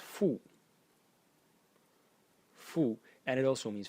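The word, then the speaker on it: 父: element over here, which is pronounced fu.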